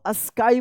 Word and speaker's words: sky: फ्लाई, ठीक है ना, SKY क्या पढ़ेंगे, इसको स्काई पढ़ेंगे, यानी कॉन्सोनेंट के बाद अगर लास्ट में वाई रहता है तो क्या पढ़ेंगे, इसको आई उच्चारण होता है इस वाई का, ठीक है ना।